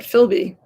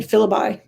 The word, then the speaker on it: Philby: helping me pronounce that philby better than filibuy philby oh my god thank